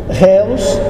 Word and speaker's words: Reus: só depois ou véus Réus é aportuguesado Maomé um sobrenome alemão pronuncia-se olhos Onix bomba Vista hoi